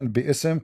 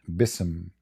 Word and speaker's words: بِاسْمِ: All, it's saying bi'ism correctly.